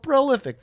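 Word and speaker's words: Prolyfyck: okay but uh prolific it is not spelled like prolific if you're wondering it's p r o l y f y c k so that's why I said it that way but prolific thank you for seeing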